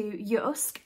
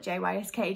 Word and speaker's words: JYSK: there which is to yusk that's how it's pronounced because it's a Scandinavian store but you might have